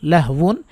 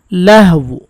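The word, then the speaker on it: لَهُ: সাকিন হলে উচ্চারণ হবে লাহু মানে দুইটার মাখরাজ যেতে হবে লাহু এখানে এসে ঠোঁট গোল করে ফেলবেন লাহু টা শুরু হয়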